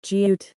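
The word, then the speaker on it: 지읒: The letter name is jiut. It is a plain sound pronounced by touching the tip of the tongue to the hard palate. It is the same as the initial sound produced when pronouncing ja.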